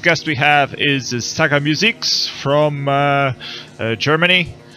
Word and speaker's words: Musix: The first guest we have is Saga Musix from Germany.